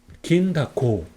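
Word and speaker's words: 銀だこ: 거예요 그래서 긴 타코라고 있습니다 한번 읽어 볼까요 긴다코네 그러면 한번 다시 한번 읽어 볼게요 이건 뭘까요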